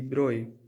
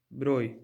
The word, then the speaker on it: Broglie: In 1924, French physicist Victor de Broglie, this is French word pronounced Broglie, Victor de Broglie suggested a very bold and new hypothesis and says nature is symmetrical.